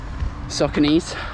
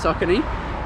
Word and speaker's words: Saucony: yeah I just love soccer knees or sauconys however you want to say it if you want to say it properly it's Society um yeah so really good